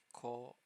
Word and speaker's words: こ: Lastly, we'll add o to the K to make ko, like coat.